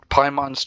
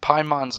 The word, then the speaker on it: Paimon: is emergency food and paimon's name pie sounds like like the first half of her name sounds like the word pie as in the word associated with the pastry or whatever so it's